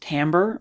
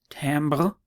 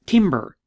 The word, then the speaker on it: timbre: so it is pronounced timbre or i suppose tambo so french it's not timber okay don't call it timber timber is what you